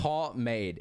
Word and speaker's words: pomade: It's pomade. It's not that hard to say. Pomade. Pretty much. That's all you have to say. Pomade. Yep. But that's not the way it looks like it's spelled though.